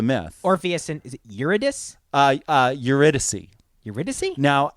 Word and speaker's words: Eurydice: Now, I have always heard it as Eurydice or something like that. Uh-huh. We went so far as to look up the proper pronunciation. Eurydice. I've heard two different versions of it. Okay. But it seems like Eurydice is the name.